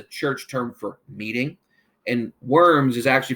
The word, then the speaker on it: Worms: He was ordered to appear before a special church meeting called the Diet of Worms. Now, don't gross out. The term diet is a church term for meeting, and worms is actually pronounced Worms.